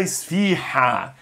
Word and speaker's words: esfiha: Onde é um som bem aerado Como se você tivesse Aquecendo as mãos num dia de frio a rua embaçando vidro